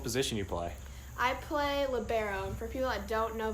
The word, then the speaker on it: libero: what's it called a libero some people pronounce it differently some people say lib um libro or i don't know there's a whole bunch of crazy ones but it's libero yeah and what did